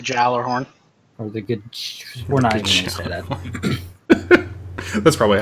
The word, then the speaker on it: Gjallarhorn: then um let's see the Gjallarhorn or the Yeller horn depending on how you actually pronounce it I'm setting a jailor horn or the good that's